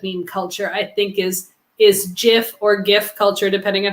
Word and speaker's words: GIF: It's GIF not. You don't call it a graphics. It's the first word stands for graphics. You don't pronounce that with a soft G.